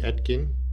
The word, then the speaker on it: Oetken: instrument it's a 36 inch uh broder atkin atkin your pronunciation is fine uh schumann resonance gum this